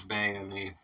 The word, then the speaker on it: Bayini: man okay so I was wondering it is bony I was wondering about that I wasn't sure